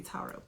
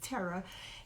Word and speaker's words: Tara: I always say Tara. It's the way it's spelled, but it's Tara.